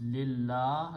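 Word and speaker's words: لله: So when you combine these two, la alif is not pronounced and it becomes lillah.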